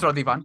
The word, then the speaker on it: Radhiman: No, it is Radhiman. You said it right.